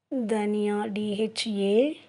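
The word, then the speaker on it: धनिया: தனியா அது எப்படி ஹிந்தியில் ப்ரொனவுன்ஸ் பண்ணுறதுன்னா தனியா, DHANIYA, தனியா.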